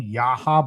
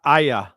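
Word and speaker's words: Yahya: How do you pronounce his name? Yaha Black? Aya.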